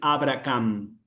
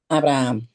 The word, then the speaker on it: Abraham: se aplica la regla, no dices Abrahamm, dices Abraham. Abraham. Okay. Entonces la H es muda, ¿me explico? Abraham. Eh eh con acento en la primera A.